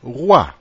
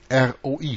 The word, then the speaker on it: roi: Ohne den Artikel ist Roe, Hirte, offenkundig der Ursprung des französischen Roi, König. R-O-I schreibt man das, Roi.